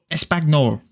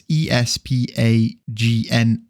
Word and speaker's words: espagnole: Espagnol. Espagbol.